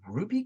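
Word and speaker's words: RWBY: Is it Ruby crossover? Am I pronouncing the?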